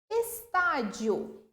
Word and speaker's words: estádio: Estádio. Estadio. Acento agudo no tá indica aqui a tonicidade dessa sílaba.